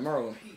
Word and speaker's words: Maryland: You gotta say it like that, Merlin. Maryland. Merlin.